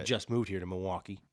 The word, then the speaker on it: Milwaukee: I've understood at this point it is Milwaukee and not Milwaukee for the locals. Wait, say that again. You don't pronounce the L. Nobody here says the L.